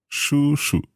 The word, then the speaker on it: 叔叔: 叔叔 Shu shu.